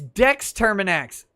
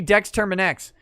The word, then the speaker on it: Dex Terminax: Damn, it's Dex Terminax. It should rhyme with Terminax. It should be Dex Terminax.